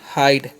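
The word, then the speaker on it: hide: पहले वाला उच्चारण आई का उच्चारण होगा लास्ट वाला का नहीं। ठीक है? तो इसे पढ़ेंगे हम हाइड।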